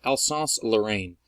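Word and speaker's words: Alsace-Lorraine: that people sort of mispronounce frequently but it's pronounced Alsace Lorraine okay and if you're like dude I don't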